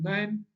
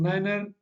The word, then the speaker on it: niner: 5 and 9 that if 9 is pronounced as nine instead of Niner and oblique own incorrect